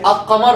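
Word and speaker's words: القمر: You say al-qamar or al-qamar? Al. If you forget, remember these two words, shamsiyya, ash-shams. The lam is dropped. Qamariyya, al-qamar. The lam is there.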